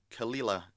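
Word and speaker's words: Caol Ila: dougas laying Premier barel um Edition uh of khila uh which is spelled c a o l i l took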